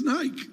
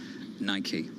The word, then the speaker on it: Nike: shut up Tom Pharaoh's correct it's Nike I'm not saying I'm right I'm just saying that that's how a lot of people in Europe say it right which is wrong which is wrong being here in America it is Nike whatever that's worth welcome